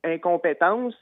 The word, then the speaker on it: incompétence: That's a French word too, and it's incompétence. And the last C of the word is spelled like S, but it's a C. Okay. And C, it's a ka, like a K.